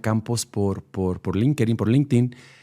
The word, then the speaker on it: LinkedIn: Cuando Estefanía me buscó por Linkerin, ¿cómo se dice? Exacto. LinkedIn.